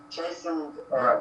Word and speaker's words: chastened: We never pronounce T after S. Okay, chastened right.